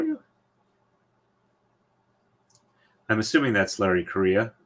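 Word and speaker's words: Correia: I'm assuming that's Larry Korea U but yeah it's spelled c r re e i a yes it has three vowels in a row uh and it's just pronounced like the country Korea no that's not he's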